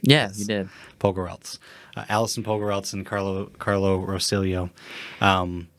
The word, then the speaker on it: Pogorelc: But yeah, we get to interview my friend Carlo Rosillo and his friend and producer, directing partner, Alison Pogorelc. I said it right. Yeah, you did. Pogorelc.